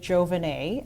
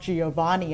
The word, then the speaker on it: Jovenet: I would say coffee, Cafe Jovenet at 410 West Georgia, and that is actually the correct way to pronounce it. It's not Giovanni. I actually learned that from the owner. It's Giovanni.